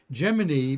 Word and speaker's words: Gemini: what we use in Gemini by the way is the way NASA said to pronounce the program like Jiminy Cricket yeah they said in